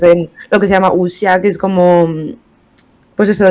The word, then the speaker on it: Wuxia: Wuxia. Wuxian. ¿Cómo se escribe para quien quiera buscarlo?